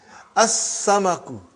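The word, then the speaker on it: السمك: As-samaku, fish.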